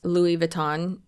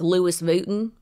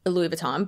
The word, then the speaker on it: Louis Vuitton: and it's crazy I'm surprised she didn't pronounce Louis Vuitton as Louis vuon which I'm pretty sure